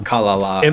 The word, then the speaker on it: Kalala: I'm not really sure like what the inflection on that last syllable is supposed to be, but it's Kalala actually. Emphasis on the first syllable.